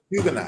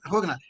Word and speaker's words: Huguenot: back to Nicolas Martial, who was a Portuguese Huguenot, or I don't know how you pronounce it. Huguenot, you said it right. Yeah. Huguenot. Yeah, Huguenot.